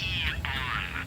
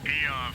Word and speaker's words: AEON: With the state of the world today, the Aeon program is Eon. I'm sorry? It's pronounced Eon. Eon for Eagle.